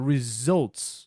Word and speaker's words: results: Nota a pronúncia, results. Sempre que você for ler U-L, você fala O.